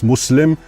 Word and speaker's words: Muslim: And it's not Muslim, it's Muslim.